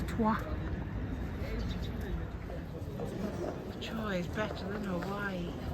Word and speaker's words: Troyes: Yeah, actually, it's actually pronounced Troyes, which is a little bit strange. But yes, it's not Troyes, even though we would say Troyes, it's Troyes.